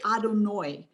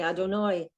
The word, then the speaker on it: Adonai: lot of people say adonoi and so i wondered where the difference or how that happens that it's it's from brooklyn in minnesota isn't that the is that the ashkenazi way of pronouncing it rather than just okay